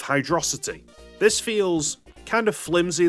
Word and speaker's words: Hydrocity: When it comes to Hydrocity, proponents of that pronunciation have pointed to the blasts and jets of water that shoot Sonic all over the place as being a perfect visual representation of Hydrocity.